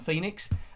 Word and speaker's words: Pheenix: If you're trying to track this one down, Pheenix is spelled in a slightly different way. It's P-H-E-E-N-I-X by Megadodo in 1983.